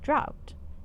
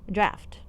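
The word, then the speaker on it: draught: recipe for a demonic drought draft I keep forgetting that that's you pronounce that draft no name is listed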